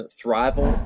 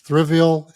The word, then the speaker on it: Thriveal: And Thriveal is probably the best location for any firm. It's the word thrive and then AL, Yeah.